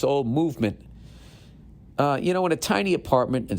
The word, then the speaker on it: MVMT: With fair prices, unexpected colors, I didn't see that coming, and clean original designs, Movement, pronounced Movement, it's MVMT, grew into one of the fastest growing watch brands, shipping to over 160 countries across the globe.